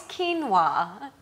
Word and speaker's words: quinoa: not to be confused with quinoa quoa it's quinoa and lots of people get confused that's how you pronounce it pronounce quinoa and what does it